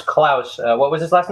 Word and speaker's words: Klaus: what you mean that's uh that's how you pronounce Klaus uh what was his last name what did